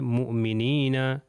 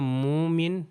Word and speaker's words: مؤمنین: ہم نے پہلے مؤمن کے بارے میں بتایا تو یہاں پر پہلی ایگزامپل ہے مؤمنین مؤمنین. اگر میں کہوں مومن تو غلط ہو جائے گا.